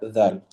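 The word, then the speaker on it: ذال: Again, the letter dhal will be pronounced exactly from the same makhraj. Okay? Dhal, adh, udh, and idh. With the letter dhal, there should be sort of a buzzing sound.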